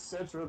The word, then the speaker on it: Cetra: You mispronounced his name. His name is Cetra the Imperishable, and his slogan is Cetra does not serve.